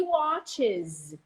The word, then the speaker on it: watches: person I watch he watches we change the verb or the noun include es watch when the last syllable is sibylon like that and it's a z sound watches she watches us on TV she watches